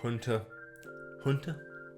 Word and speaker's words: Hunter x Hunter: watching episode two of hunter hunter i think someone in the comments our last video said the x is silent in these so that's so you're gonna